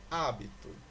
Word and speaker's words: hábito: Hábito. E aí, pessoal? Esta palavra é uma palavra proparoxítona, pois a sílaba tônica é o A.